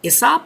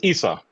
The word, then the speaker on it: Issa: Let's all please welcome Isaak to the heart of the pronounced Isop. Thank you. It's Issa.